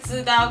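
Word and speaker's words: 知道: un poco mejor lo que es con la pronunciación de una palabra. Por ejemplo, ZH sería zidao, que es el verbo saber, o sea, de conocimiento, yo sé algo.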